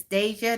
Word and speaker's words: Deja: It's Deja. Did I say it right, Deja? Like day, like Deja, Deja.